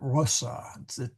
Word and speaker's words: Rosa: By the way, that O is actually short. It's a little hard. Rosa. I so want to put a long O there because of rose. But Rosa.